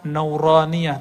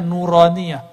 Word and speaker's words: nuraniyah: roniyah makanya ribet tuh kita kasih nama nauraniyah itu bacanya nuraniyah huruf-huruf cahaya dan dulu para